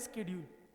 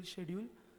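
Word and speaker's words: schedule: इसको हम कहते हैं स्केड्यूल। आप जो भी प्रोनाउंसिएशन फॉलो करते हो, स्केड्यूल, शेड्यूल, जो भी फॉलो करते हो, ब्रिटिश या फिर अमेरिकन, तो उसको हम क्या कहते हैं?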